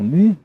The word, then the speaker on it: Mu: The Lost Continent of Mu, car la prononciation est Mu, d'après ce que dit le colonel Churchward.